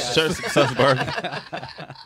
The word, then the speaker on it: Sussberg: Sussberg.